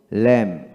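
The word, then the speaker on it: lamb: হবে না তারপর আসেন এল এ এম বি কি হবে ল্যাম ল্যাম তারপর ডব্লিউ ও এম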